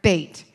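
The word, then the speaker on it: בית: when they're in words don't say buh do you hear the UH behind there make it very staccato because it'll mess you all up when you start getting with the vowels so you make that staccato sound okay all right Psalm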